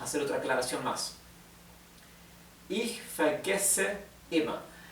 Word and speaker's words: vergesse: Ich vergesse immer. Acá tenemos una doble S. Recuerden que la doble S en alemán se pronuncia como una S suave.